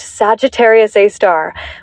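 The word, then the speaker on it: Sagittarius A*: This center is dominated by a super massive black hole called Sagittarius A, pronounced Sagittarius A star, which has a mass millions of times greater than our sun.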